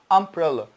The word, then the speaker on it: umbrella: word umbrella pronounce it umbrella but the letter U in the word uniform pronounce it you you why because the transcription of the word uniform there is the yak sound and ooh you uniform so by studying phonetics